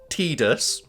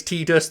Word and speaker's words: Tidus: I I know like the voice actor has said that it's tus like in the script it said it was tus it's stupid no it's not it's Titus I will say Titus um I think there